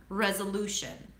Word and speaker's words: resolution: You round your lips. That's a strong R. re zwa lu tense oo as in food and then shun resolution.